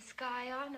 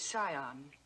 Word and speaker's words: Scion: engagement Yale yacht and the sky on of a prominent family the word is Scion the sea is silent